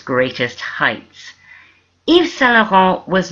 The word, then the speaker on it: Yves Saint-Laurent: You don't say Yves Saint-Laurent or Yves Saint-Laurent or anything like that. It's Yves Saint-Laurent. You don't pronounce the T's and you don't say Saint or anything that sounds like it.